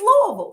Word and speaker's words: Louisville: Just say it like you're from the country. Louisville.